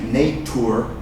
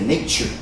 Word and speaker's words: nature: Often in English, not always, but many times when there's a TI or a TU, remember? TU also, pronounce it ch. For example, naturaleza, nature. You don't say nature, you say nature.